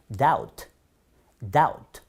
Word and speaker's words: doubt: 이런 경우도 나부트라고 발음하실 수가 있는데요. 아닙니다. B 발음하지 않습니다. doubt.